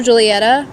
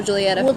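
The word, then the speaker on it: Giulietta: is spelled g-i-u-l-i-e-t-a and it's an italian there's no um j in there alphabet so the g i stands for the j so just think like romeo and juliet but julietta and yeah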